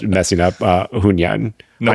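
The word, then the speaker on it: Hunyuan: Gosh, I don't know why my American brain keeps not messing up Hunyan. No. Hunyan. Yes. Hunyan. I need to see you order at a Chinese restaurant. Hunyan's GameCraft, which we covered like a month or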